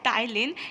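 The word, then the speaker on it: ptyalin: called platine sorry thylin which means here p is silent so this enzyme amylase so it is called as tylene and what they do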